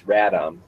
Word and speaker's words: Radom: There's no letter N in it. It's Radom. Okay, Radom.